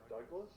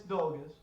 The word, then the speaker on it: Dolgus: But what is the pronunciation? Oh, Dolgus. I'll pay you credits. Dolgus. It's Dolgus.